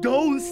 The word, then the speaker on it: dos: Adios is a Spanish word that rhymes with dos.